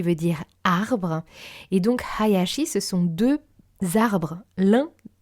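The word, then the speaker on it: 林: famille, le nom de Hayashi Sensei. Hayashi Sensei. Et il se prononce Hayashi. Ha, donc vraiment le H doit être un petit peu forcé pour certains.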